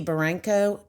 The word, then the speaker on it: Barranco: And today I have one of my fabulous mentors, Barranco. Did I say that right? Yep, that's right. I'm terrible at pronouncing names.